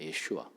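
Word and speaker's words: ישוע: 우리가 예수, 지저스, 제수스라고 이렇게 전 세계에서 예수님의 이름을 부르는데 히브리어 원래 이름은 예슈아입니다. 예슈아.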